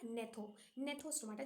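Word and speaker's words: Gnathostomata: एंथा और दूसरा था नेथोन स्टोमाटा जिसमें जी साइलेंट था राइट मैं ये हाफ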